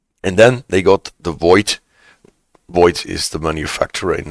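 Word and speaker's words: Voith: fixed quite fast yeah it's void and the th that does not show up in how you pronounce it but in the writing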